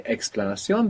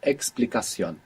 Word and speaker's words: explicación: We don't say explanación, but explicación.